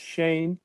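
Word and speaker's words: Schoen: them well they said josh shone pronounced shane joe shane said that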